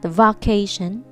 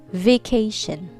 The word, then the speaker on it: vacation: me heart very good vacation vacation not vacation but vacation okay be careful on the first syllable of the word vacation repeat after me vacation